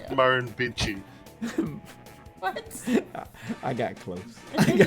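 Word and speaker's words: Murrumbidgee: Oh, and that word that you were trying to pronounce there is Marin Bitchi.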